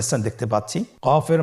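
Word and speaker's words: ق: আবার বলুন কফ কফের মাখরাজ স্ক্রিনে লক্ষ্য করুন এখানে আমরা মাখরাজের বা উচ্চারণের স্থান দেখতে পাচ্ছি কফের মাখরাজ হলো জিহ্বার গোড়া তার বরাবর উপরে তালুর সঙ্গে লাগিয়ে উচ্চারিত হয় জিহ্বার গোড়া তার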